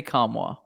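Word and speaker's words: Nkamhoua: Tennessee roster page where you can hear the pronunciation how come how come how knock them how Olivier kamwa whoa kamwa that's easy I was way off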